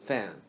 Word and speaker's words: 饭: Fan is similar to with fan. Replace a with a. So fan, fan.